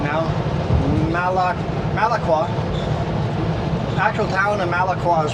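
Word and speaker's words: Malakwa: The actual town, just gotta say it right now, Malaqua.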